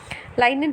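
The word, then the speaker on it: lignin: उसमें पैक्टिन था, इसमें लाइनिन है। ठीक है, यहाँ पे जी साइलेंट होता है।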